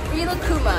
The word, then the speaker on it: Rilakkuma: Rilakkuma.